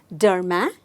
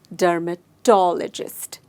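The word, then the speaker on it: dermatologist: को बोलते हैं डर्मेटोलॉजिस्ट let's pronounce it once again डर्मेटोलॉजिस्ट मैंने स्ट्रेस टॉलजिरा डर्मेटोलॉजिस्ट डर्मेटोलॉजिस्ट जो होते हैं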